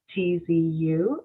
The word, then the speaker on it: Shieh-Chi: So it's actually pronounced Shieh-Chi, and phonetically it's spelled Sheetzu, and the last name, of course, is.